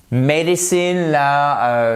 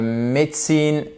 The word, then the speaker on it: medicine: Medicine, médecine at Bristol University. Et là, c'est medicine, ok? C'est pas médecine, non, medicine. Faites bien attention.